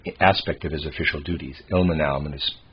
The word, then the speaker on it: Ilmenau: Ilmenau, I'm going to pronounce it that way, it's I-L-M-E-N-A-U, Ilmenau.